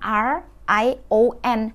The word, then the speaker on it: Rion: Jadi Rion itu bacanya R-I-O-N, Rion.